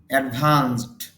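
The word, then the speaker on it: advanced: অ্যাডভান্সড, উন্নত। দেখেন, ভার্বের শেষে ইডি যদি যুক্ত হয় তখন শেষ সাউন্ডটা যদি স সাউন্ড হয় তখন ইডির উচ্চারণটা ট এর মতো হয়ে যাবে।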